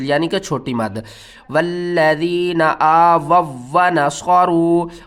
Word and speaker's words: آووا: اور یہاں پر دیکھیں زیادہ تر لوگ کنفیوز ہوتے ہیں کہ اس واو کو پڑھنا ہے یا نہیں پڑھنا. اس کے ہجے کرتے ہیں حمزہ پیش او، اس واو کو بھی ہم نے چھوڑ دینا ہے.